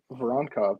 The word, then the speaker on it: Voronkov: Voronkov, baby. It's easy. You say it exactly how it's spelled.